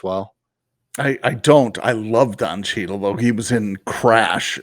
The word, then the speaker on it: Don Cheadle: think of what's that television show that John Tiedel, um, what now I forgot his name because I was saying it wrong. Don Cheadle.